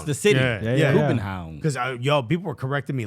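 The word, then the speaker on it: København: Kubenhavn. That's how they pronounce it. That's how they pronounce the city. Yeah. Kubenhavn.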